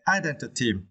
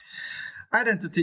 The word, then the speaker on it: identity: in Vietnamese identities and you need to stretch the second syllable then okay identity identity is mean who or